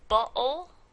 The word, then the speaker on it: bottle: So the Geico gecko will say bottle, right? So those two T's are actually not pronounced as a T, but as a glottal stop.